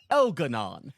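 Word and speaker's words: Elgar'nan: Elgarnan specifically is spelled as Elgaran, right? But every single person that says his name, it almost across the game is an elf that speaks with a lightly British accent. So they all pronounce it Elanon.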